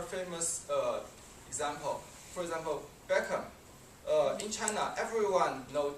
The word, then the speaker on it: Beckham: uh example for example Beckham uh in China everyone know David be we say his name actually that is wrong the H is silent so Hong Kong is